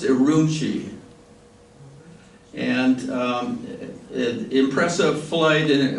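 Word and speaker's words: Ürümqi: Q is it Q Qi uh but it's pronounced aruni and um impressive flight and over impressive geography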